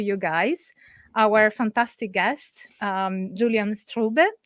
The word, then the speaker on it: Julian Strube: guys our fantastic guests Julian strube am I pronouncing your name right oh yeah perfect I should I should